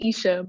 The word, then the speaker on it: Aisha: Aisha, please welcome. I hope I pronounced your name correctly. If I didn't. Thank you, Monica. It's actually Aisha, but Aisha, close.